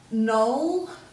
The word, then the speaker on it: knoll: So we're not going to sound that K, so we're going to go knoll, N-O-L, N-O-K-N-O-L-L.